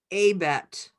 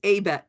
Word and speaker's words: ABET: And now what I'm doing is I'm going into ABET, where this looks like the link may have left.